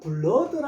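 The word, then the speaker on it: blood: 오는 보통 우 소리가 많이 나는데 그죠? 우 소리가 나는데 자, 요거에서는 어 소리가 납니다. 그러니까 우은지 어운지 요거 보고는 모릅니다.요 전체를 보고 어, 요거 혈액이네. 혈액은 블러드라 하더라. 그래서요 소리가 어 줄 아셔야 돼요.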